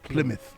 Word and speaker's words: Plymouth: who said to me uh no mo it's Plymouth Plymouth yeah has been a voiceover for a minute but your pronunciation near the the English some bister how